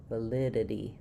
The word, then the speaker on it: validity: Um, both the letters T and the letters D turn into flaps in the middle of words when they're followed by unstressed syllables. And a flap just means I'm lifting my tongue to behind my teeth in the same place that I do a T or a D sound, but I'm not bursting the air out. So, it's not a D or a T, but rather a light D. Valid validity.